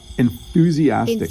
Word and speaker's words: enthusiastic: That th can kind of trip you up a little bit.